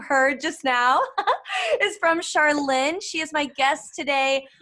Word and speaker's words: Charlene: is charlene um well american people call me charlene but in french is charlene love it when you say it it's way better yeah and i'm living